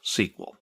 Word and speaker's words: SQL: Well, it's a version of SQL. We'll talk about that in a minute. People in the know don't say MySQL, they say MySQL. That's generally how it's pronounced. And SQL is usually pronounced SQL.